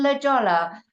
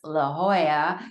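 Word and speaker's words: La Jolla: want to go see what's in Lola and until someone tells you it's La Hoya you sound like a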